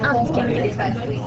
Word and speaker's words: handicapés: et non pas l'am attention bien que nous l'entendions souvent les handicapés n prononciation adéquate puisque le H de ce nom est aspiré il faut donc dire les handicapés sans faire des liaisons entre les déterminants et le nom si tu veux savoir